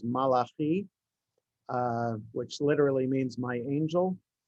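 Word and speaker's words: מלאכי: It's taken from the prophet Malachi, and the Hebrew pronunciation is Malachi, which literally means my angel.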